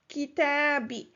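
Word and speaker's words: كتابي: So this was done for ease of pronunciation because it is hard to pronounce when there is a dhamma and then after it there is a kasra. So this was a pronunciation change. It is pronounced kitabi.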